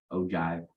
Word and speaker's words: ogive: okay so yeah ogive yeah oh it's spelled og ibe ogive like a j i don't know um